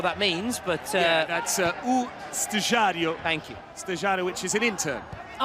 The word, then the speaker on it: Estagiário: the Brazilian presidents, Estagiário, is that how you pronounce it? I don't know what that means, but... yeah, that's Estagiário.